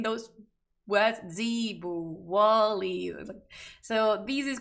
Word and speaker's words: zebu: Google how to pronounce cebú. Zebu. Seriously, like the animal's pronounced like that? Zebu.